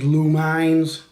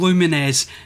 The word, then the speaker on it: Lumines: another example of that sean and his misuse of e lumens there's blue mines possibly luminous and finally there we go you rattle through a few combinations of these words to get to the right title and luminesce now if you're asking